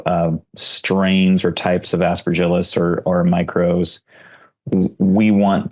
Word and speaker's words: Aspergillus: give it a shot aspergillus David how'd I do it's like a hard G aspergillus aspergillus dang it um you